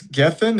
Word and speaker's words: Gethin: On this episode of The Ideal Hour, I got Kris Gethin. Is that correct? How did I pronounce it? You got it. Gethin.